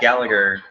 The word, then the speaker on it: Gallagher: So, but that can lead to some entertaining things, as we saw this week, and Jack Gallagher. I think it's Gallagher, but it's spelled with there's an H in there.